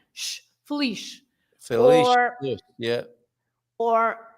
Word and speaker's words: feliz: So, for example, if you say feliz, you also pronounce this Z as sh, the same sound as the S at the end, exactly the same. Sh, feliz.